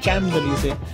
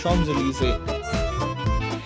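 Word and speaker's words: Champs-Élysées: थू प्रशन देखा है इसको अक्सर लोग बोलते हैं चम जली स्पेलिंग इसका यह है लेकिन इसको फ्रेंच एक्चुअल प्रोनंसिएशन है शम जली एनीवेज हमें यहीं से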